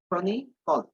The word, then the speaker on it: chronicle: এটার উচ্চারণ হচ্ছে ক্রনিকল। শেষের যে সিটা এটা আবার কল হবে না, কল হবে, কল ও কল, ক্রনিকল।